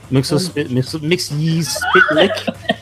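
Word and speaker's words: Mxyzptlk: Mix ye spit lick. I still remember how Guilford Godfrey told me how to say it. Yeah. Mix ye's spit lick.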